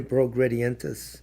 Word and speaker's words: progredientes: I'm pronouncing it Spanish. Latin would be the progredientes.